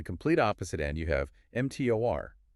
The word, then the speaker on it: mTOR: And then on the complete opposite end, you have MTOR, pronounced mTOR.